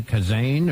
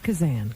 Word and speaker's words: Kazan: That could be They could call it Kazane or there's a Yeah, they've called me everything. You can call me. Do we have it right? Kazan. Kazan. We got it. Not Kazan.